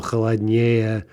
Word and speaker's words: холоднее: Now, as with so many things in Russian, there are a few isolated exceptions where an adjective with three or more syllables does get in stressed on this comparative ending. For example, холоднее or голоднее.